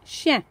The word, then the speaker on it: chien: So if you're going to spell this one, remember it's I-E-N. Chien. And remember, we don't pronounce that last letter most of the time in French.